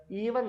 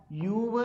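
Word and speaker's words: ewe: നിന്നും എല്ലാ പരീക്ഷയ്ക്കും ചോദിക്കുന്നതാണ് ഇ ഡബ്ല്യു ഇ എങ്ങനെയാ വായിക്കുന്നത് ഈവൻ അല്ല കറക്റ്റ് പ്രൊനൗൺസിയേഷൻ യു ആണ് കേട്ടോ യുവ് എന്നാണ് ഉച്ചരിക്കുന്നത് പെണ്ണാട് എന്നാണ് അപ്പൊ എന്താ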